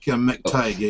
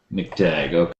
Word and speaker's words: McTagg: The National Coordinator for Astronomers Without Borders in New Zealand, and McTagg. Is that how we pronounce it? Sorry about that. That's pretty close, Mike. McTagg, actually. McTagg. Okay.